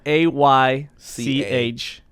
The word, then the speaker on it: Aych: And by the way, it's spelled A-Y-C-H. No E. No E. No. So, Yeah. Aych is how I said it the first time when Right. we first met.